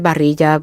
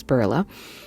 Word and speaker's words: Barilla: I pronounce it Barilla because the double L in Spanish sounds like an English J, but I know that it's Barilla.